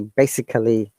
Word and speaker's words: basically: All right, so this word, look, most of the people will pronounce it like technically, physically, basically. But look at the pronunciation rule.